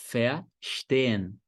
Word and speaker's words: verstehen: Então, você escreve V-E-R, mas pronuncia fé, como se fosse F-E-A.